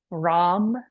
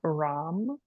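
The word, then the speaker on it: Ram: Rom is our chant. R as in radio. A M. Rom.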